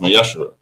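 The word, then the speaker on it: ma'aser: You can find this in numbers 18 21 and Malachi 3 8-10 means 10th in Hebrew and is pronounced masher.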